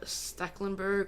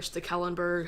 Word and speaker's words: Stekelenburg: Now, in goal, I have Stecklenburg, or Stekelenburg, however you would like to pronounce that.